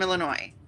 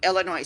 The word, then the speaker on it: Illinois: is happening in Chicago Illinois Chicago Illinois the S is silent don't say it because we look down